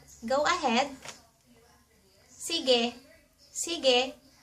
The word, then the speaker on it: sige: "Sige."